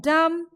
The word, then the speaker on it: dumb: So the silent alphabet is B, which is appearing in the end of the word or which appears in the last of the word. So B in climb, B in dumb, B in calm, and B in numb. Everywhere B is silent.